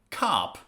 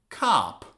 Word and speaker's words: cop: Cup, cop. What's the difference? Look at the phonetics. Cup, cup, Cup, this is a short vowel. Cup, but the other one, cop. Cop, this is a long vowel.